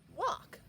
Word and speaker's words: walk: Now we can make it into a word like this, walk. The calf will walk. This A doesn't say ah, it says aw. It's a short O sound, awk.